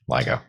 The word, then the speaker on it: LIGO: decisive contributions to the lego detector and the observation of gravitational waves ligo ligo ligo detector i probably mispronounced the earlier acronym ceo actually as well